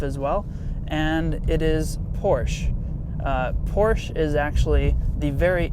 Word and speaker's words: Porsche: correct way to pronounce Porsche is actually Porsche so that little sche on the end is actually pronounced so Porsche is the correct way